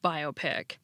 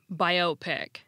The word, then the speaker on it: biopic: building not apartment building using the compound stress rule the word is pronounced biopic not biopic still in all the